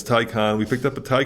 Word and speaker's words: Taycan: tycan but it's pronounced tycon it's a german thing like if you're old like me you'll know it from wrath of khan but it's tai con we picked up a